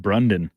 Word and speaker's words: Brandon: I've been calling him Brendan this whole time. It's actually pronounced Brundon.